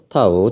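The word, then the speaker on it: τ: 자, 요거 뭐라고 읽는다고요? 타우라고 읽어야 돼요. 타우.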